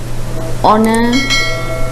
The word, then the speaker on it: honor: Honest, honor, hour. Again, honest, honor, hour. So, what is the silent letter here?